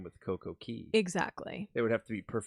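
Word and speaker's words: CocoCay: We had a perfect day if you would cuz their slogan is perfect day at Coco K, which another fun fact, it's technically not pronounced K.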